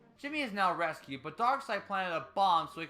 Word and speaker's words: Darkseid: How is his name pronounced in the show? You may call me Darkseid.